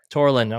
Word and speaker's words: Ture Linden: We have Connor McMenamin and is it Ture Linden? Is that how you pronounce it? Tor Linden.